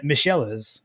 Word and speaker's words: Michelis: So I can now say that it's Brian Michelis is how you pronounce his name.